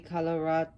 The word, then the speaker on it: Kalaratri: Om Devi Kalaratri Namaha. That's how he pronounces it.